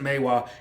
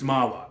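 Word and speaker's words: Mahwah: I know sometimes you pronounce it Maywa. It's Mawa.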